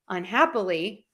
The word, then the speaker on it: unhappily: If I end the un and the ly, unhappily, my hap is still stressed.